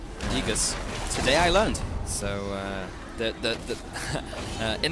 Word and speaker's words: Aegis: AE is pronounced E. Aegis.